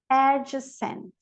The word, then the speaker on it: adjacent: Adjective, adjective, adjunct, adjacent, adjacent. G is silent in the spelling sequence, GM and GN.